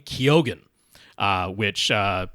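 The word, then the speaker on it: Keoghan: he's pronounces last name kogen uh which uh most people in Ireland wouldn't pronounce the G but he himself pronounces the G so I'll go with kyogen um would have seen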